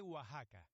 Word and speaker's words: Oaxaca: Soy de Oaxaca. Oaxaca. Okay, so X is closer to an H for Mexico and a Oaxaca.